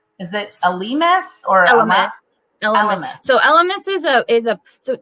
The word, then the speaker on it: Elemis: Elemis.